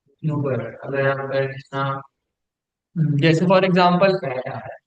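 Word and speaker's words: über: पे कंसिडर करूँ ना कि इसके ऊपर umlaut है, तो फिर मैं इसको पढ़ता हूँ यूबर, यूबर, यूबर। लेकिन अगर मैं फॉर एग्जांपल यहाँ से umlaut रिमूव कर देता हूँ, तो फिर इसकी जो प्रोनाउंसिएशन है वो डिफरेंट हो जाएगी। फिर मैं इसको पढ़ूंगा ऊबर, ऊबर।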